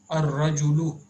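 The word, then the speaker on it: الرجل: Ar-rajulu, the man. Here ra is from huruful shamsiya.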